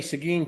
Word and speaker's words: Seguin: If you say, and there's plenty of others, but or my grandfather was from Tig. How would you spell Tig? Tig, like you will. No, it's Teague. It looks like Teague, but if you pronounce it Teague, everybody knows you're not from there. Or Carmine. right? It's actually carmine. But if you pronounce it carmine, they will correct you Yes.